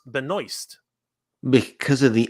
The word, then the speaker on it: Benoist: that's what uh now the way we would say it is Benoit right because it's French right and we are a french-speaking country so a lot of people uh have been have been ribbing me on this idea that uh that it's incorrect and I agree okay I agree I did not know that it was pronounced Benoist I had no idea